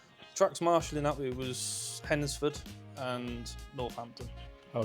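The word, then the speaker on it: Hednesford: We got tailed off in the last one because Hennisford is a silent day. So it's Hennisford. Hensford. Hennisford.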